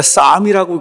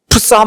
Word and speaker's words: Psalm: 그래서 P가 묵음이 돼야 되잖아요, 묵음. 그러니까 쌈이라고 그걸 읽어야지. 풋쌈 뭐 이렇게 읽으면 이건 안 돼.